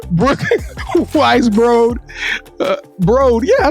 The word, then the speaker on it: Weisbrod: Brooke Weisbrod. Yes, there you go, bro. You got it. Brooke, and Kevin gonna probably keep that part in the show when I make a mistake, right? Brooke Weisbrod.